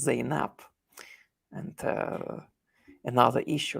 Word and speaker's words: Zainab: And in Arabic, you can simply pronounce her name as Zainab.